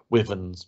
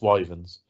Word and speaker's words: wyvern: lindworm or wyverns or I've heard people pronounce it women's but you're wrong with wyverns um stop calling it a women um I have